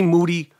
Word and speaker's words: Moody: it down with moody last name rhymes with duty in emergency fashion and